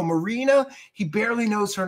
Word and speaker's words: Marina: Maria? Oh, no, Marina.